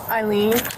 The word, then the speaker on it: Eileen: Eileen. Eileen, how do you spell that, Eileen?